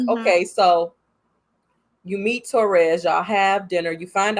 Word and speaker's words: Therese: Like, okay, so you meet Therese, y'all have dinner, you find out her name is not Teresa, it's Therese.